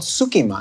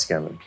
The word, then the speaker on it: tsukemen: I think what we ordered is called sukiman. It's pronounced skemen.